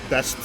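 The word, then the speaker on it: Bæst: still in scandinavia and best or beast as you say but we pronounce it best uh with necro sapiens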